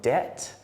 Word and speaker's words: debt: And we've got words with a silent B. So they're words that things like bomb, or doubt, or debt, and lamb.